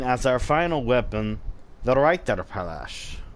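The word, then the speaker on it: Reiterpallasch: We will be using as our final weapon the Reiterpalash. Or another way you can pronounce it is Reiterpelish, which can actually be found at the Castle Cainhurst.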